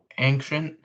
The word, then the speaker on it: ancient: Okay, it's ancient and I can prove it. Okay, I know there's now not two C's, okay? I just pronounced there's the one C.